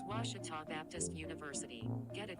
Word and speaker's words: Ouachita: oh wish tall oh a cheetah is it pronounced oh akita searching for washi at a baptist university back in texas everybody pronounces it wichita but really it's ouachita washington washington how would you pronounce it it's washita baptist university get it right it's watertall people